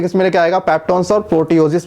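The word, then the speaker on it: proteoses: लेकिन इन चैन का नाम सुनोगे, इन चैन का नाम है प्रोटीएज, सॉरी प्रोटीओज, प्रोटीओस स्पेलिंग ठीक है, प्रोटीओजिस और पेप्टोन्स।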